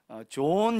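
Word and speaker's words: John: 나라에서 많이 쓰여지고 있어요 그래서 미국 원이나 영어권에서는 요한 이라고 부르지 않고 좋은 이렇게 부르죠 발음상 예 좋은 이렇게 부릅니다 그래서 좋으나 무게 하면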